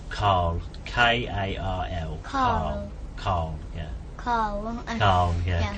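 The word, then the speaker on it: Karl: No, Carl. His name is Carl. Carl. K-A-R-L. Carl. Carl. Yeah. Carl. Carl. Yeah. Carl. It seems like without an R. Yeah, I think it's my accent rather than.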